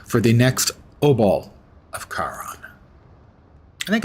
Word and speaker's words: Charon: Where do I look for the next obol of Charon? I think it's pronounced Charon. Most of my life I pronounced it Charon, but I think it's Charon, Charon.